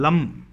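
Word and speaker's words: लं: इस लाम ध्वनि को ला म मा, ला के ऊपर अंक की बिंदी, लाम, इस प्रकार से इस लम ध्वनि का उच्चारण कीजिए।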